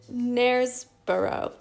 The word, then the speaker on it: Knaresborough: Stitching in Knaresborough.